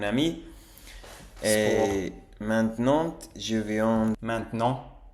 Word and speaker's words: maintenant: Et maintenant, je viens Maintenant, on ne prononce pas le T.